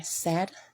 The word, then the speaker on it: said: Again, these words are said and again, and the I in both words are silent.